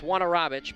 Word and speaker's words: Wanarovich: And no, that's not how you say his name at all. It's Wanarovich, but nobody can seem to get it right.